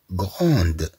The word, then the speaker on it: grande: في المؤنث تقول البنت Je suis grande. Je suis grande. نضيف أ فتنطق د في المؤنث.